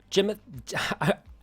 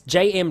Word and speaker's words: JM: got it right um Jim I'm mispronouncing your name which is hilarious cuz this is about mispronunciation all it's JM so JM what